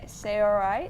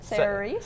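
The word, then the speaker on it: Saoirse: pronounce It's it. Yeah. yeah. It's Cerise. Cerise.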